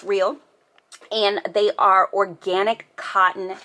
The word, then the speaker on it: Rael: These are called Rael, pronounced Rael.